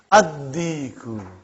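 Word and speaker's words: الديك: How will you pronounce it? Ad-diku. Why? You did not pronounce lam because it is sun letter.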